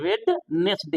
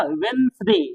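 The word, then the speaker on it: Wednesday: लोग पढ़ लेते हैं वेडनेसडे लिखने में तो वेडनेसडे बोलेंगे लेकिन यहां होगा वेनसडे वेनसडे वेनसडे यानी द हम नहीं पढ़ेंगे क्योंकि डी यहां साइलेंट होगा जबकि लिखने में यूज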